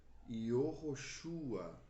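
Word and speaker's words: יהושע: Porém, como se pronunciava o nome Josué no Antigo Testamento? Yehoshua.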